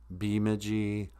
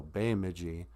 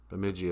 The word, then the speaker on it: Bemidji: they'll call it um bemidji they garble it a lot because it looks weird um but the correct pronunciation of bemidji is bay like the bay of a lake um even though it's